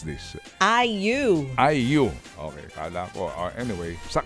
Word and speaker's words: IU: na si How do you pronounce this IU IU Okay alala ko Anyway sa kanya pong concert noong araw ng Sabado Sa tindi ng sigawan Sinabi po ni ni IU na Pilipinas ang isa sa kanyang paboritong puntahan